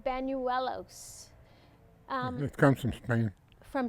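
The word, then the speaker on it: Bañuelos: We used to pronounce it Banuelos. Banuelos? Banuelos. Oh. You have that little deal on top yes. of the end? That's yeah. Okay, okay. You say Banuelos? No, Banuelos. Yellows.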